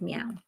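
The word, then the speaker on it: MEOVV: did not know there's actually a group called meow yeah so it's yeah so beex beila said is right what she said is correct it's spelled m oov v but they pronounce it meow it's technically moia it's a Pity what happened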